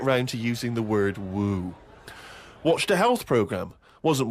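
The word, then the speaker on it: wewe: Woo? Who is Woo. using that word? It was just W-E-W-E. Let's call it a woo.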